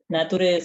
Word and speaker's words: nature: This ending always sounds like sure, okay? So, nature, nurture, and culture. Never ture.